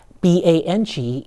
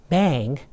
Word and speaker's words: 棒: B-A-N-G is not bang, but bang. Okay, so when you say something is terrific, you would say 很棒. Okay, B-A-N-G is bang.